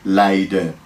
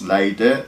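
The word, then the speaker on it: Leiden: from actually around here I say light or light and so there's some option ality in pronouncing the final end but it's lighter or light and so take care of well a lot like that light and okay you're doing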